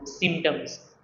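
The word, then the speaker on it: symptoms: अच्छा इसके अंदर सिम्टम्स के अंदर जो पी है वो साइलेंट है। ओके? तो सिम्टम्स इसको हम ऐसे पढ़ेंगे।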